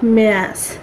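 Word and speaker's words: März: আপনারা যদি জার্মান ভাষায় অ্যালফাবেটে যান তাহলে দেখবেন জ্যাটের উচ্চারণ কিন্তু সেট। তো সেখান থেকেই এটা যদি ইংরেজি বলেন, আমি যেমন প্রথম শেখার সময় বলছিলাম যে মেয়াস, পরে দেখতেছি না, এটা মেয়াস হবে, যেহেতু এটা জ্যাটের উচ্চারণ সেট আছে, সেট। সেক্ষেত্রে এটার উচ্চারণ হবে মার্চের পরিবর্তে মেয়াস।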